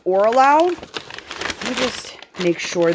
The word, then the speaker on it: Oraloa: I believe it's pronounced Oraloa.